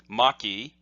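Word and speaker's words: 巻: which essentially means the same thing and is pronounced the same way Maki is this character and this is the character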